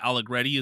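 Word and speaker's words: Arrighetti: I am blanking on I think it might be Spencer Aligretti is how you say his last name.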